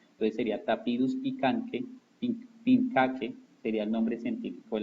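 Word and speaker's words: pinchaque: Esta palabra, cuando aparece CH, no se pronuncia chache, chi, sino se pronuncia como si fuera una K. Entonces sería Tapirus pincaque, sería el nombre científico de la Danta.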